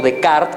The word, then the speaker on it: Descartes: Ustedes saben que Descartes, o Descartes, como lo pronuncian adecuadamente, decía que lo que somos este que piensa.